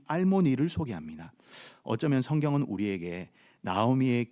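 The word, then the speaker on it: אַלְמֹנִי: 아무개는요, 알모니라고 발음합니다. 알모니.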